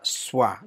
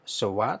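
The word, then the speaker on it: שְׁוָא: itu disebut secara teknis dengan nama swaha jadi dibaca swah ya bukan Showa tetap iswah ke-3 tanda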